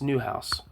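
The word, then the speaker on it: Nieuwenhuis: fed and and Dila newus I think it's how you say it newus you might even be a new house Dutch to English F house new house okay yeah it's new house Ferdinand DOA new house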